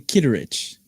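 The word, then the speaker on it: Kittredge: So he pronounces his name Kitteridge.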